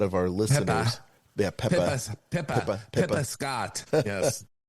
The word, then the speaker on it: Pippa: Pippa Pippa Scott. Yes. Say it like you're from Cape Cod.